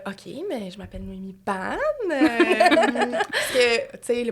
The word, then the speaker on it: Bannes: mais je m'appelle noéi ban parce que tu sais mon nom de famille je sais que des fois c'est un petit atom crochu on sait jamais comment le prononcer donc c'est ban euh je suis créatrice